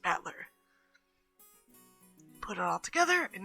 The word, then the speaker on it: Battler: is my given name this is made up of the characters for fight and person and it's pronounced battler put it all together